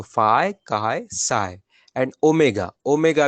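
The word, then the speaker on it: χ: अगला काय है, ओके? चाय नहीं पढ़ना उसको। जो जो थर्ड लास्ट है ना, फाय के बाद का, इसका प्रोनाउंसिएशन काय है, ओके? काय। उसका एच काइंड ऑफ साइलेंट है, आप मान सकते हो, नहीं तो चाय पढ़ लेंगे हम उसको।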